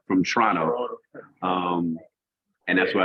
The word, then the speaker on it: Toronto: I have to say it like a like I'm from Canada. From Toronto.